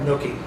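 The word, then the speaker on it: Newquay: Nquay. I pronounce it Nquay, but the people in Scotland called it Nookie. And so they would always say, "Oh, you're going to Nookie."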